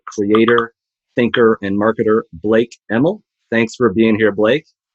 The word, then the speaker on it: Emal: is the multi-talented creator thinker and marketer blake emel thanks for being here blake thank you for pronouncing my name correctly by the way no